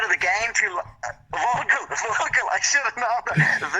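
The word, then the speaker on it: Völkl: And I want the proper pronunciation. Fisher. Ian Kelly. Voikel. I've been out of the game too long. Vocal, I should have known that.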